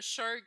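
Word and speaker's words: SSHRC: anglais, il s'appelle le SHIRC, tu sais, fait que même quand ça se prononce SHERC.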